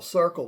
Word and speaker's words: Cirkul: and there it is Circle C i r k Circle that's how they spell it okay so check them